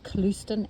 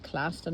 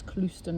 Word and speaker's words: Clouston: My surname is Clouston, as in Houston, Texas, but with a CL, so it's not Clouston as in cloud, it's Clouston as in Houston.